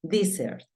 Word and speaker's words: desert: La número 10 termina en vocal la primer sílaba. Por lo tanto, va a sonar di. Y la segunda, pues, termina en consonante. Desert.